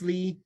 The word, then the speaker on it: Ley: just assume that my my name is Lay but it's Lee I just spell it wrong um right for you exactly people get really confused but then I tell them it's the second half of Wesley and then they're like